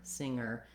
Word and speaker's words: singer: singer you can hear I don't say singer there's no G sound in singer singer this is challenging for